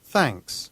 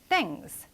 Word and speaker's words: thanks: Thanks. 그렇죠. Thanks. 자, 요것도 thanks 이게 아니라 thanks. 그렇죠. TH는 여기에서는 무성음으로 발음된다.